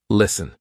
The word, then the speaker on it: listen: is silent for example s t n listen we're not saying listen silent t hustle st tle e